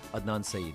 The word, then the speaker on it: Adnan Saeed: Am I saying it right? Adnan Saeed.